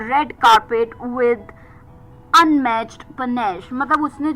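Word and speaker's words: panache: पी ए एन ए सी एच ई पनश noun.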